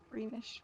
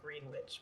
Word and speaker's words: Greenwich: town of greenwich village greenish village it looks like green witch but it's pronounced greenwich um i hope he